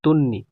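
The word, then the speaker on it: তন্বী: নামটা কেমনে আসছে তন্নি এখানে কি বফলা আছে বফলা আছে বাট এখানে বর উচ্চারণ নাই তন্নি মানে দন্তন্য দুইটা আর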